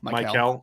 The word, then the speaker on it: Mikel: Is how you pronounce his name? Mikel.